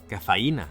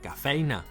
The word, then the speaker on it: cafeïna: Més exemples: cafeïna, que sense la dièresi es pronunciaria cafeina; o peücs, que, si no, serien peucs.